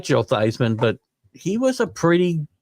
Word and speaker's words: Theismann: I believe Joe Theismann pronounced his name Thiesman, and they talked him into changing his name, the pronunciation of his name, so that it would rhyme with Heisman.